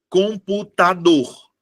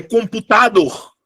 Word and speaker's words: computador: É computador ou é computador? É computador. A minha sílaba tônica não é a antepenúltima. Ou não é a penúltima, perdão.